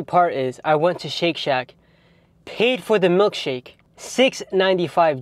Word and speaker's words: Shake Shack: up I'm going to shake shack it literally rhymes with milkshake like milkshake Shake Shack Shake Shake Shake Shack